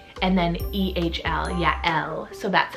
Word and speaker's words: Yael: that is the name Yael, so spelled Y-A-E-L. So it is 2 syllables, Ya, Y-A-H, and then E-H-L, Yael.